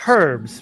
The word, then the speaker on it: herbs: Eddie isard would say it's herbs because there's an H okay that's how you